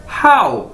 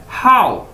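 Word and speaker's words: 好: अदा कैसे करना है, हाउ। जिस तरह आप इंग्लिश का वर्ड बोलते हैं हाउ, तो इसी तरह आपने इसे बोलना है हाउ।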